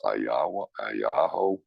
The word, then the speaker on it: Aguayo: The G is pronounced as a Y, so it's Ayayo.